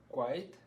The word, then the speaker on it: quite: here quite quite good you're going to want to make your your voice move a little bit so it's going to sound like i repeat i i quite white yeah good so the hard thing about english vowels is some of them move within the same syllable so quite is one syllable right but you're still moving that vowel sound good quiet wonderful very